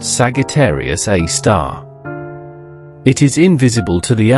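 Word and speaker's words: Sagittarius A*: At the very core of the Milky Way, lurks a super massive black hole known as Sagittarius Asterisk, pronounced Sagittarius A star.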